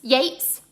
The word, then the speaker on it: Yeats: by um a poet called william butler yeats yates spelt eats pronounciates in 1889 and it's generally known as